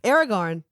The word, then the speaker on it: Aragorn: And then we're also going to invite Aragorn, King Elisar of Gondor. Did I get the pronunciation on that right? Aragorn.